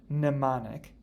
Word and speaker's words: mnemonic: help us note that the m in the word mnemonic is silent so it really kind of when you pronounce it it starts with an n mnemonic a mnemonic device is